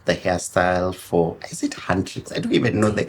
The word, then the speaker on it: Huntrix: My first attempt was Hunter X, and my 10-year-old died and was like, Mama, it's Huntrix. And it's like, Right. there's no I.